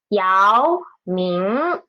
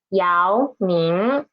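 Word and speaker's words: 姚明: 姚明。 Okay. 2 second tone syllables. 姚明。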